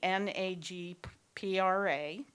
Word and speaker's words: NAGPRA: all of us our topic tonight is the NA GPRA I don't know if that's pronounced a different way NAGPRA okay thank you